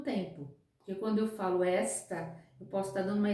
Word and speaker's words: esta: Até a pronúncia é diferente. Existe a pronúncia está, que é o verbo, e existe esta, que é o pronome demonstrativo. Também falei de tempo. Esta dá ideia de tempo presente.